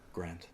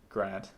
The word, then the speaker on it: Grant: Grant. Yeah? Although people would say Grant. Well, when I pronounce my name in French, I say Grant, because that's how they say Cary Grant or Hugh Grant.